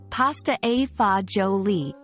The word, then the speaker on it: pasta e fagioli: for a treat as we explore what makes pasta EA joli so special pasta eoli pronounced as pasta AA jooli is a traditional Italian Dish its name literally